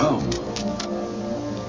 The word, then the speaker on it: Om: One of the basic mantras is, of course, the sound Om. That sound is used because if you spell it out, A-U-M, it runs from the back of your throat to your lips, and therefore it contains the whole range of the voice.